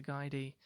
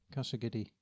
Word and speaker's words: Casa Guidi: Yeah, I don't know how it's pronounced. Casa Guidi windows. Casa Guidi. The second word is Guidi. Casa Guidi.